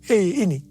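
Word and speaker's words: ה: yang terbentuk pada huruf He ini merupakan gambaran celah atau jendela mulut Tuhan yang menghembuskan rohnya perhatikan juga cara pelafalan huruf ini pun seperti orang yang menghembuskan nafasnya Hei nama Abram berubah menjadi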